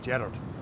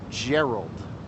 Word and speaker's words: Gerard: you say that because in Scotland we say Gerard oh Jared yeah Jared oh Jared I can't even say it can't even say we can because you have that crisp r yes um hey jard that J um and so we put the emphasis on the first syllable but in America it's that Everlasting infinite second syllable so and people ultimately say Gerald which I hate I